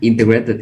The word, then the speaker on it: integrated: Yeah, integrated, the stress on the first syllable.